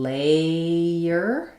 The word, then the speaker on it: layer: Whereas in layer, you're going to have the a diphthong.